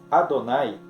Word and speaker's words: Adonai: ali com uma pontuação indicando que não deve ser pronunciado como ele é, mas sim que deve se pronunciar Adonai. Então, ele vem com os pontos que indicam essa pronúncia que deve ser Adonai.